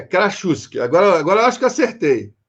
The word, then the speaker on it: Krasucki: Você acabou de pronunciar para mim, mas ainda assim é Krasuski.